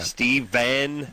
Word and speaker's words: Stephan: Stephen.